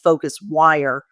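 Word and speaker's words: PhocusWire: And then FocusWire, also with a PH, is the media outlet.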